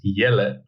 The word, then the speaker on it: Jelle: have a clue um the dutch way is yele it's like yellow but a little a little bit different but you can you can give your own twist to it pronounce it anyway you